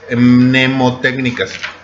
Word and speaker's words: mnemotécnicas: Esto se llaman técnicas mnemotécnicas. Nemo, o sea, no Nemo como el pez, ponen una M antes del Nemo.